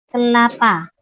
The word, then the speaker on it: kelapa: Kelapa. Kelapa ya, bukan kepala ya, oke? Kelapa. Don't be wrong in pronouncing. Kelapa is coconut and kepala is the head, ya.